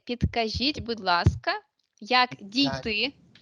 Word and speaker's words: Підкажіть: And we say, підкажіть, будь ласка, як Got дійти о доїхати до, and we say where.